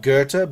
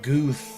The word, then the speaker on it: Goethe: like at the library, he said Goethe is the name of the writer, right? Goethe, but he was saying Guth or Gutha or Guthi or something.